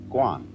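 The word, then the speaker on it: 觀: that means seeing and the whole character is pronounced gwon and it means a certain kind of observation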